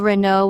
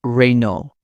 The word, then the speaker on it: Renault: People often call Renault with a clear T. In French, it's Renault, without the final consonant.